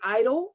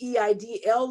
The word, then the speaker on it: EIDL: And tonight, we have the pleasure of having her on this platform to talk to us about, some people pronounce it EIDL. I say EIDL loan, the advance.